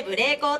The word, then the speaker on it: 舞鈴光: 舞う鈴の光と書いてブレイコーと申します。